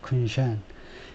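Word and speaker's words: 昆山: 행정구역상으로는 이제 다르지만은 그래서 발음은 쿤샨 두 번째 실러블의 두 번째 음절에 액센트가 있네요. 쿤샨 In one case, 한 가지 경우에는 Chinese executives bypassed US restrictions.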